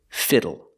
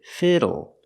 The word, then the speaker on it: fiddle: we're learning this word fiddle pronunciation use a short I sound for the I Fi Fi fiddle fiddle and the l e makes a sound o o like table and bottle fiddle fiddle so what is a